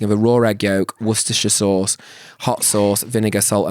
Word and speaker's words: Worcestershire: Savoury non-alcoholic cocktail traditionally consumed as a hangover cure consisting of a raw egg yolk, Worcestershire sauce, hot sauce, vinegar, salt and pepper.